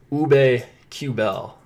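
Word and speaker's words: Aubé-Kubel: Lawton, Van Riemsdyk, and Ube Kubel, I believe is how you pronounce it. I listened to Doc Emmerich pronounce it on NBCSN the other night. So I think I got that one down. Kubel, I know is how it is. Because he made a point to pronounce it like that.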